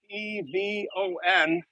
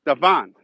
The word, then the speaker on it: Devon: Now, I grew up in Chicago, and Devon, as they say in England, Devon, or however you say it. And thanks, Lorraine, 10 bucks. In the United States, I grew up on Devon Avenue, and we pronounce it Devon. So this is my American Chicago dialect.